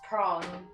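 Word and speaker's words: Pran: you can reach uh prawn within a day's walk here are we are we close to shrimp right now p-r-a-n pronounced prong not fish near the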